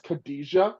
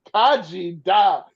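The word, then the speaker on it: Khaji Da: on reading it as Khadijah, like Queen Latifah's character from Living Single. I kept on reading Khadijah, and then I had to flip the last two syllables. Kaji Da.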